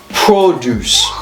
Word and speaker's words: produce: one first okay so when it's a noun uh the stress is on the first syllable produce produce okay produce okay